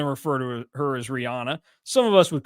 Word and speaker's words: Rihanna: Uh he is the one that tried saying that it was pronounced Rihanna to John Curts and I on the game one time when we said, "No, it's Rihanna."